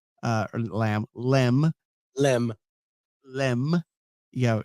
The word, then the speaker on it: Lemb: is the woman of lamb uh lamb lamb Lim limb you you gota really pronounce that MB limb auto correct you if